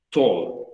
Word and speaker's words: tall: No es tall, es tall. En inglés las doble L se pronuncian como si fuera una sola L. Tall.